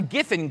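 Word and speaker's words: Giffen: Well I like to I like the name gifin because it rhymes with griffin and griffins are imaginary.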